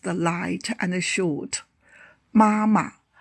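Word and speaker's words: 妈妈: Wo can mean both I and me in writing and pronunciation. Wo u wo wo Mama mom or mother mama As a reduplicated kinship term, the second syllable should be pronounced the light and short. Mama m o a ma mama Ta he or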